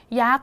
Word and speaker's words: ยักษ์: ฤทธิ์ นั่น เอง นะ ยักษ์ นะ คะ ตัว การันต์ ก็ คือ นี่ ตัว นี้ เลย นะ คะ มี ทัณฑฆาต กำกับ เสียง ของ ศ ฤาษี เอา ไว้ ดัง นั้น นะ